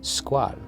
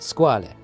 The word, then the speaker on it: Squale: as the logo of the brand in fact squall if you want to pronounce it correctly means shark in french but